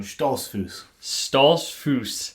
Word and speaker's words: Stoltzfus: pronounce your last name stahls foose correct that's at all how i would have tried to pronounce it no the fus in the last three letters kind of throws everybody off yeah um in fact